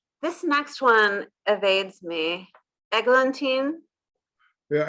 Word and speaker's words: Eglantine: Eglantine. Yeah, Eglantine. Tine.